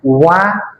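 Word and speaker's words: は: हिरागनाको हा शब्दलाई यदि पार्टिकलको रुपमा आउछ भने वा उच्चारण गरिन्छ जसको अर्थ के हुन्छ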